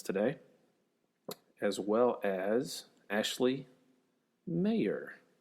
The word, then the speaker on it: Maher: Kat Flippen also graced us with her presence today, as well as Ashley Maher, kind of like John Mayer, but she spells it M-A-H-E-R.